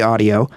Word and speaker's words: Adio: how it's pronounced because it's a d IO we say audio um and the we